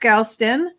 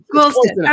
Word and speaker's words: Goulston: here with dr mark galston and i didn't get to ask you first i hope i pronounced that correctly uh cl golson okay dr mark goldstein there